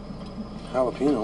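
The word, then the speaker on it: jalapeño: Jalapeno? What flavor is that? Ricky, Jay's silent. The J's like an H, Ricky.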